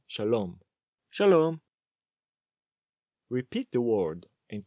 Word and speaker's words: shalom: Ben starts by saying shalom. Shalom. Repeat the word and try to focus on the pronunciation and stressing the correct syllable.